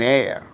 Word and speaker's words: heir: so for instance for instance words beginning with a silent h in the words hour an hour an honor an honest man an heir an honorable man in all these cases these words begin with h which is a consonant letter but H becomes silent and these words produce